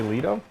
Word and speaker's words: Leto: leto jared leto so i guess it's officially lito i apologize jared i